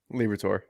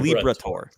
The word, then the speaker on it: Liberatore: Am I pronouncing Liberatore? Liberatore. Like the zodiac sign Libra, and then a tour. Yeah. Liberatore.